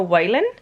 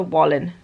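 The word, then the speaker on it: Whalen: Like I keep calling her Whan, but I think the narrator calls her Wallin, so a different pronunciation.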